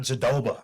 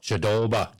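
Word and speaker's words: Jędrzejczyk: That's not how you spell it, but that's not how you say it. You got to say Yan Jedrzejczyk. Jedrzejczyk.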